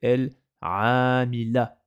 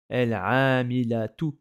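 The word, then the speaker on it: العاملة: Donc c'est pour ça que ça fait el-amila. El-amila. Et on n'a pas prononcé le tarmabuta. Par contre, si je devais le prononcer, ça ferait el-amilatu.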